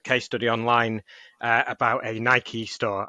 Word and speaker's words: Nike: There's a really good case study online about a Nike store. I say Nike (pronouncing long e). I know you say Nike, Tom, but we'll go with Nike.